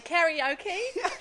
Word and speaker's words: karaoke: Karaoke. I Karaoke. pronounce it funny because I studied Japanese for 2 years. Oh, In New Zealand we say karaoke, but it's not karaoke, my loves. It's karaoke. That's fair enough, honestly.